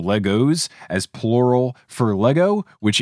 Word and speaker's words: Lego: like a cop so i'm gonna say legos does that mean we need to restart the episode over and properly pronounce lego only if the six